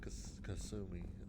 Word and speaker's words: Kasumi: Jacobs and Kasumi. I pronounced her name right.